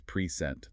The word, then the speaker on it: present: It's the same for p r e sentent the noun versus present the verb.